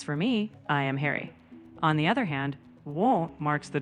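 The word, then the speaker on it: を: So, I shouldn't actually be pronouncing the W sound in O. I should always just say or, not or. Exactly. Right. You can drop the W sound. It's pronounced simply as O.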